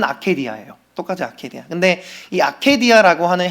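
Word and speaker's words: ἀκηδία: 여러분이 나태라고 하는 단어이 라틴어 단어로 아케디아라고 하는 단어가 있습니다.이 이 아케라는 단어의 원형이 우리 성경을 기록한 언어인 헬라어로 똑같이 발음은 아케디아예요.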